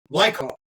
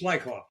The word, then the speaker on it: Lyakhov: Lyakhov. It's Lyakhov. Oh, the A is silent.